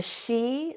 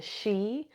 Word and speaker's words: Sidhe: folk, the good people, the she, this is spelled Sidhe, the she, household spirits.